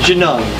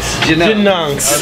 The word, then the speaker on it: Genungs: Pronounce the name of this back. It's Genungs. Genungs.